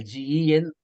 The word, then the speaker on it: Gemba: So normally you can write M as well, Genba, Gmba, but pronunciation is M, Gemba. So either you can write N or M, both are correct. So some people are writing N, some people are writing M, there is a debate, but pronunciation is Gemba.